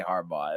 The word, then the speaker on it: Harbaugh: it's a hard name to pronounce. You just gotta think about it, dude. no, you definitely say Harbaugh.